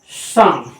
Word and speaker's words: psalm: P silent था ही, दो silent letters है इसमें, एक पी है और एक एल भी साइलेंट है। एल पी साइलेंट है क्योंकि एस के पहले आ रहा है, और एल साइलेंट है क्योंकि ये एम के पहले आ रहा है, इसलिए एल साइलेंट है। इस वर्ड को क्या पढ़ा जाएगा, इस वर्ड को पढ़ा जाएगा शाम।